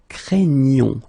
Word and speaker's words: craignons: at the plural form, it is quite tricky because you've got this gn coming right here, and then the sound is craignons. Okay, you get the ñ sound.